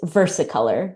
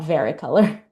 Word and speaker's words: versicolor: When I extract that, we can see Oh, I've been pronouncing it wrong this whole time. It's Versaolor, not Veraricolor.